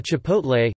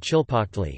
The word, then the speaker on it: chipotle: A chipotle, kipotle, Spanish, tipotle, or chilpotle, which comes from the Nahuatl word chilpotle, Nahuatl pronunciation, t-i-l po court, I, meaning smoked chili, is a smoked dried jalapeño.